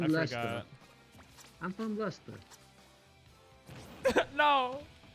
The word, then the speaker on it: Leicester: I'm from Leicester. No. There's this place called Leicester that they pronounce Leicester. It's fucking crazy.